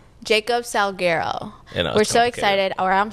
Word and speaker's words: Salguero: Salaro. Jacob Salggerero.